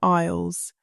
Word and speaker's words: aisle: Now, once you are inside, the supermarket is divided into aisles. Remember, the S is silent.